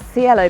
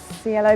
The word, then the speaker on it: Cielo: So, Okay, so here we are at Cielo Bakery. It took me a long time to work out how to say the name of this place. Cielo, but it is Cielo, I'm told.